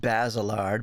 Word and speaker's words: Baselard: Baselard? I'm sure it's supposed to be pronounced Basilard, but I'm going to say it Baselard.